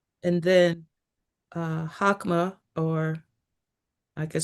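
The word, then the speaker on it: Chokmah: And then uh hakma or I could spell that as well.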